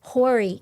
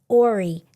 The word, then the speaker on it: Horry: I pronounced the H. Yes. And the lady, she wasn't having it. She looked at me, it's Horry County. And I was like, I'll never make that mistake again. I felt so horrible. So now when people come in, they say the H. I do the same thing.